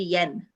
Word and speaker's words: Yuen: generations ago okay so they pronounce it caribbean way which is yen oh okay i don't